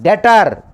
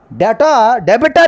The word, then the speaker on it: debtor: The last one is B is a silent. Debtor. Simply debtor. R also silent. Debtor. Debitor is a wrong pronunciation. Debitor is a wrong pronunciation. B is a silent. Debtor is a correct pronunciation.